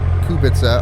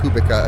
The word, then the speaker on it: Kubica: There was a day where Kubica, or Kubica, if you say it like that, got the fastest lap of the day.